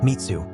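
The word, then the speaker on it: 滅: swordsman the blade has the character for slay pronounced mitsu which can also mean destruction in Japanese Hagan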